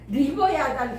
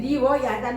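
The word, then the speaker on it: לִוְיָתָן: 그 다음에 거기 두 번째 보면 리오야단 나왔거든요. 근데 이게 리오야단이라고 발음을 해서 그렇지 이거 우리가 보통 밥으로 번역 이렇게 발음을 하잖아요. 그러니까 밥으로 번역을 하니까는 리버야단 그렇게 해야 돼. 근데 이게 지금 리워야단 하는 것은 리워야단 하는 것은 밥으라고 번역 이렇게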